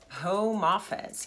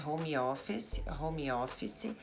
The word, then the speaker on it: home office: Falam geralmente home-office E não é home-office, você emenda o som do m com o e, como se você apagasse o E aqui e falasse "home office".